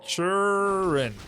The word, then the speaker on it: Turin: Churin with a T. That sounds like C H U R I N. Uh, Churin. I think you pronounce it like this. Churin.